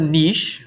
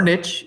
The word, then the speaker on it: niche: in those rivers okay what's a niche or niche either way to pronounce that is fine and can you describe